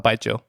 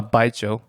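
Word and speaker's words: 白酒: What are your thoughts on baijiu? I don't remember after I drank it. Yeah, it's very potent stuff. How do you pronounce it again? Baijiu.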